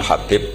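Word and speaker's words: حبيب: yang nulis Abi Abdurrahman Habib assulami itu di harakatnya kitab itu ada yang nulis hubb tapi yang benar Oh gigih yang benar itu bacanya habib habib itu asulami itu ikut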